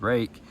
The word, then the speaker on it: Ruike: But apparently that is, I've heard this pronounced multiple ways, but I do believe the correct pronunciation is rake, and it's Jager, so Jaeger, I mean, maybe Germanic, Dutch, something like that.